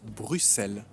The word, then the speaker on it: Bruxelles: Et au final, même si on a fini par écrire Bruxelles avec un X, on a gardé la prononciation d'avant qui était Bruxelles. Voilà, vous savez tout sur cette histoire de comment on doit prononcer Bruxelles.